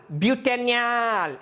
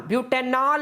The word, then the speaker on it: ಬ್ಯೂಟೆನ್ಯಾಲ್: ಆದ ಕಾರಣ ಬ್ಯೂಟೆನ್ಯಾಲ್, ಬ್ಯೂಟೆನ್ಯಾಲ್, ಬ್ಯೂಟೆನಾಲ್ ಅಲ್ಲ, ಬ್ಯೂಟನಾಲ್ ಅಂದ್ರೆ ಆಲ್ಕೋಹಾಲ್, ಬ್ಯೂಟೆನ್ಯಾಲ್.